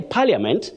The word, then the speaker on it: Parliament: themselves saying Parliament but that I is silent when you say Parliament it's like saying my friend friend know that I